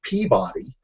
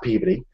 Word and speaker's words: Peabody: but they all told me that I was pronouncing it wrong it's Peabody um not pey uh I insist of course that they're wrong